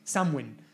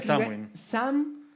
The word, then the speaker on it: Samhain: Halloween, sino que, Diego, me ayudar con la pronunciación, se llama el Samhain. Samhain. La fiesta de Samhain.